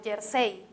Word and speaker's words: jersey: mencionar algunos ejemplos como jersey jersey la palabra jersey que voy a escribir podemos apreciar que el acento se ubica en la última sílaba del cei en la palabra jockey